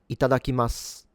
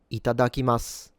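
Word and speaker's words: いただきます: So the correct pronunciation for this word is ITADAKIMASU. ITADAKIMASU. Itadakimasu.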